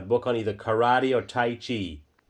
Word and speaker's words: tai chi: on either karate or taichi. Spell it. It's pronounced titi with a long i.